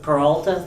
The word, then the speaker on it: Peralta: by uh German Pata Peralta Peralta thank you funny enough I only know how to pronounce that name because of Brooklyn 99 Andy samberg's character is named Jake Peralta okay well thank you